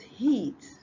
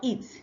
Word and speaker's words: heat: The next one is heat, not eat. If you say eat, you are saying that you want to eat, or so if you say eat, you are pronouncing E-A-T and not H-E-A-T.